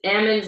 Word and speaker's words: almonds: Yeah, it's because we shake the L out of them. Yeah. It's almonds like salmon.